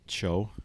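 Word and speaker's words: Choe: people on there was David Cho I think is how you say his name c h o e he's a Korean actor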